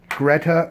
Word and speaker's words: Gretta: I'm a JOPB first year student here at Loyalist College, and I'm here with Gretta. Is that correct? That is? Can you spell that out for me just to make sure I have it correct?